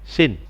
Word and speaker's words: scene: Sekarang kita lanjutkan dengan materi berikutnya adalah scene, ya, tulisannya skin, ya, tapi bacanya scene.